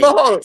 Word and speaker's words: Tangipahoa: Tangipahoa.